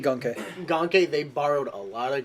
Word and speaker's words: Ganke: Ganke is how you pronounce his name. I I know like Gunke.